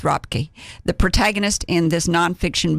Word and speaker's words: Röpke: How do we say her name now in German? Röpke.